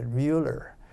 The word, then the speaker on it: Miller: miller was his name he pronounced it mueller and he just smashed